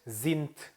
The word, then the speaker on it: sind: 여기서 Wie alt sind Sie? 자, 특히나 sind는 끝에 d는 t 소리가 나기 때문에 sind가 되겠죠. Wie alt sind Sie?